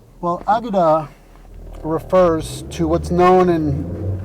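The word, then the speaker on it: Akedah: a few different ways i pronounce the k more like a g because i know the hebrew pronunciation is more like agida well aguda refers to what's known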